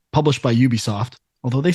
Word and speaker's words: Ubisoft: this one Sean pronunciation I've been told multiple times in recent years that it's Ubisoft okay all right that's